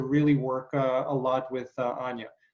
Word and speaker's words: Anya: work a lot with Anya. I'm pronouncing it in the Russian way. I know she's pronouncing it more Enya, or different people kind of have their variation.